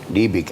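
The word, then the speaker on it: Liebig: economista un biólogo alemán que se llama libic libic así se pronunciaba que lo aplicaba en biología pero se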